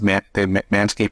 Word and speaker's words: Manscaped: Like, so in France, do they say Manscaped? They do. In Germany, what do they say? I can't say hair Manscaped. I can't say it with a German accent, but they pronounce it Manscaped also.